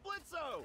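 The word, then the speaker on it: Blitzø: hey that sounds like blitzo the O is silent these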